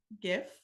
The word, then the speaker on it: GIF: further in there that it is GIF with a hard G is that research-based that's